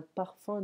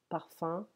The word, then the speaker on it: parfum: la parfumerie à cannes parfum parfum attention ce n'est pas là la parfum c'est comme ça p ar fqm un parfum mais la prononciation ses parfums comme fin j'ai faim respirez estime brise ce